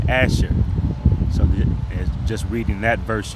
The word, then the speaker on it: Asher: had given birth to Asher and in the Paleo Hebrew his name would be Ashar that means happy.